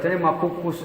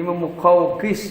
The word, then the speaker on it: Muqawqis: Orang bacanya makukus aja. Kalau makukus bolu. Maoni. Ini muqawqis baca muqawqis.